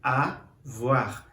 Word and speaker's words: avoir: verbo ter a voar eu sei que o mais o i ele vai dar esse sonzinho de uá de w a voar que aqui é uma ideia de como se pronuncia esse verbo arrumar é o verbo